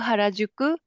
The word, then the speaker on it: Harajuku: Mi, you can help me with pronunciation. Shinjuku Harajuku Shibuya Scramble Planet Akihabara Museum of Akihabara.